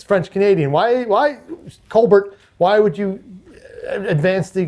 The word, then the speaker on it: Colbert: Why, Colbert? Why would you advance the Canadian nefarious agenda by pronouncing your last name as a French Canadian?